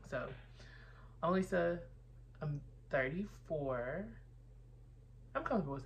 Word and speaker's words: Alisa: introduction, like, hi, I'm Alisa. Anytime you see me write Alisa, I'm always gonna write the phonetic spelling of Alisa. It's pronounced literally A-Lisa.